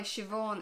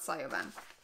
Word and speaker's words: Siobhan: veut qui veut and the reason it's Weaver is because in Irish we don't have a V in the alphabet so to make a V we use an H or we use a b h bh equals v so that's why she Vaughn is Siobhan and not sire ban and this is another